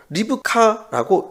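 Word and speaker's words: רבקה: 영어로는 레베카입니다. 히브리어는 리브카라고 읽습니다.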